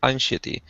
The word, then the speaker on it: anxiety: and different levels of anxiety. Nope. Nope. Nope. Anxiety. Anxiety with a Z like zebra.